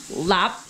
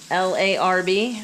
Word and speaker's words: larb: it is tuesday so we're going to make lap as it's pronounced but you see it's spelled l-a-r-b so for all you white folks out there it's larb for this we're going to make cabbage wraps typically lop is not served as a wrap so traditionally